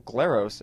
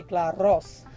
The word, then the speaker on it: Glaros: We're here with Glaros. Actually, did I say it right? Well, if you're Greek, you say Glaros. But which I can't roll. I can't roll R's, so I'm glad you did that for me.